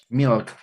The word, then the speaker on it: milk: Milk.